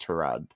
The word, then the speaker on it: Tyrod: Number two, we've got Tyrod Taylor. Sorry, I think his name is pronounced Trod. Trod Taylor for the Jets.